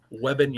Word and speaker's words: Wembanyama: The how do you pronounce his name again? The Wembanyama, whatever, him? Wembanyama.